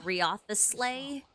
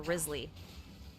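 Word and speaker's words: Wriothesley: guy yeah I know his name looks like riath the sleigh but it's actually pronounced reason or Risley I think it's funny that a lot of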